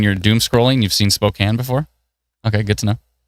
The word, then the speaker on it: Spokane: Is that how you pronounce it, Brennan? Are you sure? Yeah, Spokane.